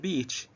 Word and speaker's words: beach: you look at the beach the weird beach you know please don't pronounce it a okay because a lot of of of of of arab speakers of english shorten this vowel and pronounce beach as